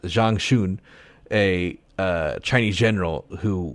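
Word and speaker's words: Zhang Xun: that tried to make Jean I think it's pronounced Zhang shun a uh Chinese General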